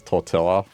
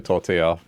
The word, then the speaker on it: tortilla: manager and she uh she would pronounce tortilla as tortilla. And I told her, "Oh yeah, it's actually tortilla."